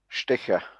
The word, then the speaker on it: Stetcher: name is peter oh sticker sticker okay it's more more like a shh like uh you know sicker okay and the o